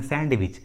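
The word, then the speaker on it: sandwich: बहुत सारे लोग इस इंग्लिश वर्ड को प्रोनाउंस करते हैं सैंडविच, सैंडविच विच is incorrect, इसका सही उच्चारण होता है सैंडविच, सैंडविच, डी साइलेंट होता है।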